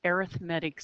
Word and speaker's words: arithmetic: 7.2 study guide um we're talking about an arithmetic sequence now believe it or not that's how it's pronounced even though it looks like arithmetic okay